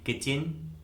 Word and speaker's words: kitchen: Rule number 1 में हम सीखेंगे कि यदि किसी वर्ड में टी के बाद सी एच आता है तो उस वर्ड में टी कम्प्लीटली साइलेंट होता है, यानी टी का किसी प्रकार से कोई भी उच्चारण नहीं किया जाता है।